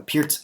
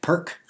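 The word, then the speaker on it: Pirc: call him Doom D6 this is called the Pierz opening and I'm always annoyed by people pronouncing it perk um because it's spelled p i r c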